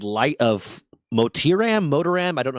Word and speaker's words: Motiram: This game is called Light of Motiram, I don't know how to say it. It's Motiram.